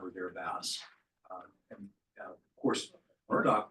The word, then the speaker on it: Murdoch: And of course, Murdoch rhymes with what? Sherlock. Sherlock.